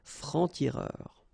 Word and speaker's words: francs-tireurs: Un franc-tireur, and then plural form, exactly the same rule, des francs-tireurs.